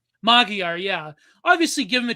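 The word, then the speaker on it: Magyar: My Mag, how do you pronounce his name? Magguire. Magiar. Magiar.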